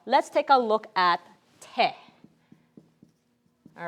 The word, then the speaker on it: 手: take a look at te all right this one's a little easier that looks familiar to my martial arts folks te in both Okinawan Japanese okay is the same pronunciation in Korean it's pronounced